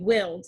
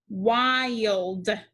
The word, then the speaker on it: wild: a silly name right this i is followed by two consonants l and d that means the i is going to make a long vowel sound okay willed if i use a short i sound it would say willed does that sound right no so we tried the long vowel sound i wild wild so we get a